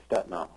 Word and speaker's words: Stetina: The story is always Stetina, the way when I grew up and the way it was pronounced.